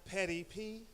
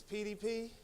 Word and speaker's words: PDP: happening was happening um my name is not petty p it's pdp and then and and